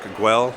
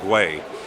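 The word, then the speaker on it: Güell: so sorry but earlier I said Park aguel no I just can't pronounce everything it's Park Way and uh behind me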